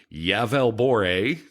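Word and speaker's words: Gävleborg: l e b o r g but it's pronounced yavel bore you're making that up no no cuz I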